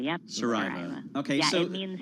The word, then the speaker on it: Saraiva: see that you wrote this piece with Augusta Saraiva, and then people will ask, "Are you sisters?